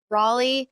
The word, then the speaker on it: Raleigh: right, ri Raleigh wants to ask him questions or ask me questions, and we're going to be publishing this to everybody.